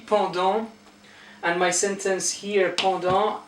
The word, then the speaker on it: pendant: Then pendant, don't pronounce the T, pendant.